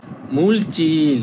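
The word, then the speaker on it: 물질: মূলচিল মানে পদার্থ। মূল চিল অর্থ পদার্থ। এই যে এটা জিল হবে না। এটা হবে চিল।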